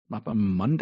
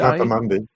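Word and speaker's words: mappa mundi: Mapa mandi. Mapa mundi.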